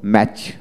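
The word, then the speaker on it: match: যেমন ওয়ার্ড এর মধ্যে টি সিএইচ থাকলে টি, এক্ষেত্রে টি এর উচ্চারণ বিশেষ করে হয় না, অর্থাৎ টি সিএইচ তে চ এর মতো উচ্চারিত হয়।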